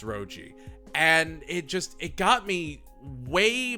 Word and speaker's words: Roji: I always mispronounce it as Muho and Ryoji, but it's Roji.